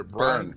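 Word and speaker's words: Byrne: Ronda uh Bryant BR how do you say burn burn I think it b r yeah um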